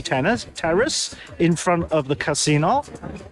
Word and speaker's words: casino: We're on a terrace, the Campari terrace, in front of the casino, as it's pronounced in Italian, because casino means shit show in Italian. Yeah, so it's very important, the intonation, casino, rather than casino.